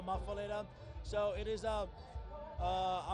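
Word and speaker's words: muffuletta: right some people says muala some people says mafala I call it m mafala so it is a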